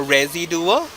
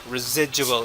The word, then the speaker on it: residual: duo which is wrong the stress is on this part and the sound the beginning from this part is the zig zig residual is the right side of the word so go to school